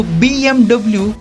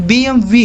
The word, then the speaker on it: BMW: 95% लोग BMW को BMW pronounce करते हैं, पर BMW की सही प्रोनाउंसिएशन BMW है।